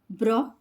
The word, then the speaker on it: brochure: In these words, we pronounce CH as sh sound. Machine, machine. Parachute, parachute. Chef, chef. Crochet, crochet. Brochure, brochure.